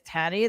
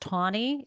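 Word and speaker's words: Taney: the same league as Tanny. That's like, it's just the fact that like we're not as bad, clearly, because small correction. I think it's pronounced Tawny.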